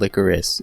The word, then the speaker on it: Lycoris: about this secret organization called Licorice and yeah that is the English pronunciation I watched just enough